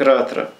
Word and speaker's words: Ратра: Это читается как Кси, это читается как Ратра. Вот верхняя вот эта звездочка Р, крест мечеобразный А, стрелочка вверх Т, опять звездочка Р, опять крест А, Ратра.